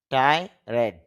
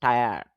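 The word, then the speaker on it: tired: তারপরে টি আই, ঠাই, আর ই ডি, টাইরেড বা টায়ার্ড, এরকম উচ্চারণ করতে পারি। কিন্তু আইপিএ তে যখন আমি দেখব তখন দেখি ঠ আই, ঠাই, এটা হলো আ, টায়া, এরপরে ড, টায়ার্ড। তাহলে শুদ্ধ উচ্চারণটা হবে টায়ার্ড।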